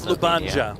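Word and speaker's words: Ljubljana: I can't pronounce that LJ one, but that's that's also where Cara Scott lives. It's Lubanja. Yeah. Is it really? Yeah. Luba.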